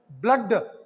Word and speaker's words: blood: here unexceptional case is this is pronounced as a cut sound blood and flood this is